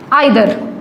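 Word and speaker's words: either: जैसे हम बात करें आइदर, ठीक है, आइदर या इधर भी बोलते हैं इसको, नीदर भी बोलते हैं, नाइदर भी बोल सकते हैं, जैसे आपको अच्छा लगे।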